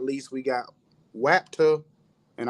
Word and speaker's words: WAPTA: And last but not least, we got WAPTA, and I'm saying it like exactly how it's spelled, so you don't think I'm talking with a lisp.